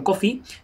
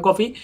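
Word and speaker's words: Coffey: aparece un personaje John coffee coffee que bueno pues estos detalles de Stephen King que tanto que tanto molan que se pronuncia como café pero se escribe diferente y esto lo repita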